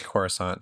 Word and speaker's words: Coruscant: I get in debates on how to pronounce it all the time, so it makes me self-conscious. Weird Al says Coruscant, so that's what I go with.